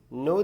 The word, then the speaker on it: know: कि युवा पीढी कि के एन ओ डब्ल्यू ओ इसमें के साइलेंट होता है ठीक है तो के से हम शब्द को शुरू नहीं करते हम यूज करते हैं नो से ठीक है लिखते तो